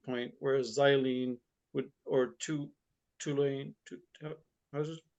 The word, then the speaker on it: toluene: Whereas xylene would, or toluene, how's it pronounced?